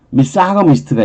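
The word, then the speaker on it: misogamist: 그 다음에 미사거미스트가 있어요. 자, 이거는 발음을 할 때 있잖아요. 여기서 가지고는 A잖아요. A. 강한 발음인데 아무튼 뭐 이때는 G로 발음이 돼서 미사거미스트예요. 미사거미스트. 이건 미사거미스트인 거예요. 미사거미스트.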